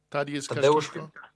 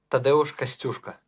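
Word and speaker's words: Tadeusz Kościuszko: Am I pronouncing that correctly? Tadeusz Kashkishko? Tadeusz Kostyuszka. Oh boy.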